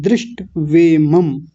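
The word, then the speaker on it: दृष्ट्वेमम्: दृष्ट नहीं, ट भी आधा है, दृष्टवेमम्।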